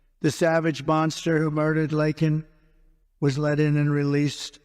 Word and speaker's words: Laken: they never called and then he pronounced her name wrong remember he called her Len remember that in Congress